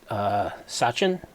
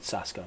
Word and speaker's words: Sasko: That's it, Sasko, not Sachin.